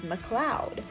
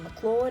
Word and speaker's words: McLeod Ganj: English and also because when I searched up these things online um well first of all mcleodganj online it said the actual pronunciation is McLeod um which doesn't sit well with me but then I watched a video of somebody saying mclaude and now I'm just gonna like stick with that sorry if that's wrong and